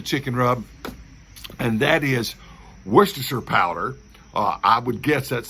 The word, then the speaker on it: Worcestershire: So I pronounce it Worcestershire, all right, because nobody says New Hampshire. They say New Hampshire, right? So why say Worcestershire when you can say Worcestershire? Worcestershire, like New Hampshire, not Worcestershire, like New Hampshire, right?